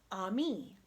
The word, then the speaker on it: ami: You say it like this, ami.